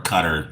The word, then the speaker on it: Qatar: um Kuwait Iraq uh Qatar or Cutter if you will I think some people pronounce it cutter been there um f